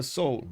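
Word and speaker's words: Seoul: get so big um you don't pronounce the e in Soul okay so I say soul okay huh let's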